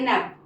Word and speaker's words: knave: जहां भी के के साथ एन यूज हुआ है, आप देखो कि एन का प्रोनाउंसिएशन हो रहा है और वहां पे के साइलेंट हो जा रहा है।